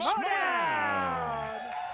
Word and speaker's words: Schmoedown: Schmoedown.